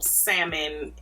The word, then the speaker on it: salmon: pink it's giving real salmon in the bottle and do y'all say salmon and salmon or salmon salmon or salmon because don't see you out here pronouncing the l we need to talk